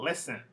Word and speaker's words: listen: rule so for example listen offer open are all two syllable verbs but the stresses on the first syllable these are the exceptions